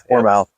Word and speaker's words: Warmouth: How do you pronounce his last name? Warmouth.